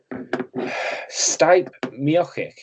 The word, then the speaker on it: Stipe Miocic: Stipe Miocic. Yeah, that's how you pronounce it.